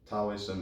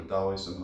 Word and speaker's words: Taoism: call it God within Taoism or Taoism however you want to pronounce it I think both work is called tau or